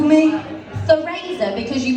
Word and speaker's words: Theresa: I'm Theresa with an E, not Theresa with an A. Try smiling when you say it and your lips will lead the way. Or pronounce it like the Spanish, Flemish, Dutch or Portuguese, where Theresa sounds less flaccid than it does in Londonese.